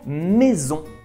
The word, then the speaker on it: maison: prononciation par contre attention si la lettre s est situé entre deux voyelles la prononciation va se transformer par exemple le mot maison la lettre s est situé entre le i et le haut ce qui va transformer notre prononciation pour prononcer ouais le raid en français cette prononciation un peu spécial maison saison église par exemple nécessite la prononciation z cette prononciation qui en